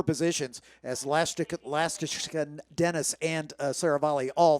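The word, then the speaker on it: Lastochkin: because for 4 years I called him Nikita Lastoshkin. Yeah, and that's it why it was okay for him. He didn't tell me. Then I find out earlier this season that I've been saying it wrong. So now we're all trying to relearn. It's Nikita Lastashkin, and I'm doing the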